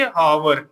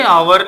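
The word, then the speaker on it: hour: उच्चारण क्या बन रहा है, उस शब्द के उच्चारण के अकॉर्डिंग हम उसमें लगाएंगे। जैसे मान लो अभी हम एक वर्ड लिए थे हावर, ठीक है, क्या लिए थे, आवर लिए थे, या आवर पढ़ा जाता है, आर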